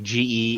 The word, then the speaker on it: Geass: You spell it like Geass.